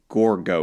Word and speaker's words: Gorgo: Prank as Queen, I think Gorgo is how you pronounce this one.